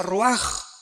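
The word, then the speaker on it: רוח: Aquí se usa otra palabra hebrea que es se escribe roach con R de Raúl A. Se pronuncia roaj. Por ejemplo, cuando hablamos del Espíritu Santo, el Espíritu Santo es roaj, el Kadosh, el Espíritu Santo.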